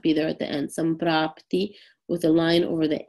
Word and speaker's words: Samprapti: make it a NK, kind of when we pronounce it. So Sankhya. Samprapti, Samprapti.